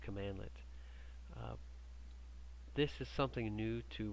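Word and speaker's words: cmdlet: this name called commandlet the cmd led pronounced commandlet this is something new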